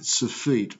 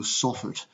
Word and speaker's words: soffit: rain ok so we we call the underside of that the surfeit or the soffit if you'd like to pronounce it so if you were